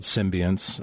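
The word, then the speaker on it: Psymbiance: bass with me and the band's called symbiance which is spelled strangely it starts with Psy but it's a progressive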